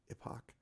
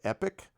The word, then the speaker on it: Last Epoch: But there's a tendency for people to call it epic, like the last epic, and it's not the last epic. It's epoch, like time thing.